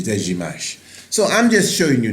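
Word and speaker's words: Dejazmach: Now, some people call it Dejmak and many different things, but when you hear the Ethiopians pronounce it, the Dejimash.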